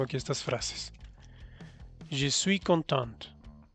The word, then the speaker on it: contente: Je suis contente. O je suis content o je suis contente. Al pronunciar la T, lo estás diciendo en femenino.